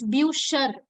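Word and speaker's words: Bücher: become sure yeah it's it becomes a pronunciation becomes buchar yeah normally when it's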